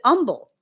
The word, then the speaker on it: humble: Here we say the H in humble, but I know there's places um the Southeast area that pronounce it umble.